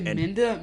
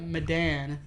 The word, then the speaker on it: Medan: You say Menda? Medan. Thank you. Medan. It's Medan. I don't know how to pronounce it, but...